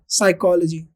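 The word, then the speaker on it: psychology: The study of human mind and behaviour, साइकोलॉजी, यहाँ पर हमने क्या लगाया, पी साइलेंट, इसको हम बोलते हैं साइकोलॉजी।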